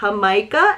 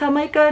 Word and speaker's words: jamaica: trying the sal de jamaica as a rim for margaritas. Yes, that sounds so good. I'm assuming it's Jamaica, not Jamaica, but it's spelled like Jamaica.